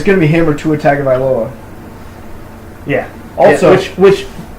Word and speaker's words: Tua Tagovailoa: It's going to be him or Tua Tagovailoa. Yeah. Also, which Tua Tagovailoa isn't as hard to pronounce as you think. It's pronounced exactly how it's spelled.